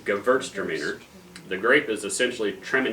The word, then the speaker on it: Gewürztraminer: The secret to pronouncing Gewürztraminer is to say it fast and slur it, in case you don't. Drink a lot too. You're doing That's it. right. The W is a V, Gewürztraminer.